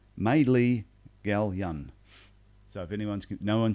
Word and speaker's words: Maelea Galyon: name it is though it is pronounced Madeley Gallion so if anyone's no